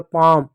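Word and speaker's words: palm: अब यहां पर ए के बाद एल होगा। देखो सी का क लिख दो। ए के बाद एल है तो आ की मात्रा लगा दो। एल साइलेंट होगा। एम का म लिख दो। काम पी का प लिख दो। ए का आ की मात्रा लिख दो। एम का म लिख दो। हो गया पाम।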